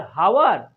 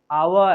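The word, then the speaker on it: hour: एच ओ यू आर, हावर नहीं, हावर नहीं में बोलेंगे, हावर नहीं बोलेंगे, क्या बोलेंगे यहाँ पर, एक साइलेंट रहेगा मेरे फ्रेंड। तो आवर, तो यहाँ एन आवर,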